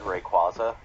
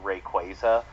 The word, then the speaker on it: Rayquaza: this day is rayquaza because i always said rayquaza oh i hate that when i was growing up but like in the anime he's called it's called rayquaza and i'm just like oh that doesn't that doesn't sound right ugh native english